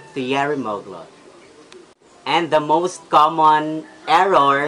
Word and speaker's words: Thierry Mugler: Laurent but it's a French brand so it should be Sun lo ho X is Thierry Mugler and we should pronounce it Thierry Mugler Thierry Mugler and the most common error especially cinema Filipino